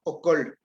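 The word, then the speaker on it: ok'ol: En la penúltima palabra, okol. Okol es entrar. Pero si yo leo okol es robar. Entonces, una es con vocal larga y la otra es vocal corta.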